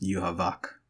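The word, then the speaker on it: Yhwach: you you okay so the Japanese pronounce it but it's a German name obviously and in German is supposed to be pronounced you Havoc which makes sense I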